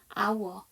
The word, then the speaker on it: hour: H5로 시작하는 단어들은 H가 묵음이죠. 이렇게 여러분들 알고 계시는 거 뭐 있으십니까? hour, HOUR, 시간이라는.